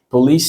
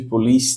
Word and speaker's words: police: Police station. Cuidado aí com essa pronúncia de police, né? A gente tem costume de falar police. Não é police, não, é police. Police.